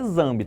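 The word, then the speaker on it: Nzambi: Escreve com N, mas a gente pronuncia Zambi, tá?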